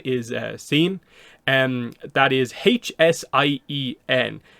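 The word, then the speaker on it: Hsien: one to get across the H seems to be silent and it's not as simple as just like CN or anything like that so scene or something like that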